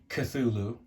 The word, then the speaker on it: Cthulhu: um I have heard the name of this monster pronounced the way that I say it Cthulhu I've heard it called kef Lou I've heard it siflu I've heard it katulu I've heard it um uh let's see how